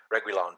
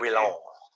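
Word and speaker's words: Reguilón: Reguilon. I like that. Go with that. I gotta roll the R.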